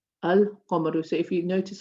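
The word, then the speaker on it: القَمَر: So you'll say ash-shamsu, al-qamaru. So if you notice, I've pronounced my lam here, I've not pronounced the lam here.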